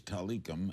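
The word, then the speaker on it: Tilikum: out of the woodwork correct pronunciation the whale's name is talikam and let's ask linda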